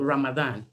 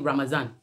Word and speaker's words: Ramadan: is called Ramadan but some people call it ramazan some people in their country you know we have different ways we pronounce some words and then it all means the same there's a bit difference in the pronunciation but when you hear someone saying ramazan and Ramadan it's still the same thing it's just the disease